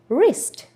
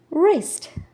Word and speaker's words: wrist: Silent W ஆனது R லெட்டருக்கு முன்னாடி இருக்கும். ஒரு வேர்டில் R லெட்டருக்கு முன்னாடி W இருந்தால் that is silent. So how can we read these words? Right, right, wrong, wrong, wrist, wrist.